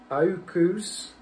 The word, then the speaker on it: AUKUS: Biden is expected to announce a new defence pact, reportedly called the AUKUS. The A, it's spelled A-U-U-K-U-S, AUKUS, whatever.